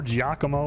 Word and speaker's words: Giacomo: best geronimo okay uh leo says that it is pronounced like giacomo giacomo giacomo okay there's